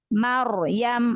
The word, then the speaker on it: Maryam: Misalnya ada ro sukun sebelumnya fathah. Mar misalnya. Maryam, ro-nya sukun ya? Ya. Maryam, maka ro-nya dibaca tafkhim.